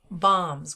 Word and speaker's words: balms: That's B-A-L-M-S, bombs. We don't pronounce the L in that word. It sounds just like the word bomb, like woo, bomb.